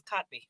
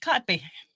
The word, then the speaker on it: Kotb: how do I know because her name is kotby what's her name kotby oh is that how you say her name